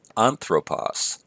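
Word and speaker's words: ἄνθρωπος: Omicron Sigma ending so on throw pause notice in this case the accent is on the first syllable so we have on throw pause the ending is Omicron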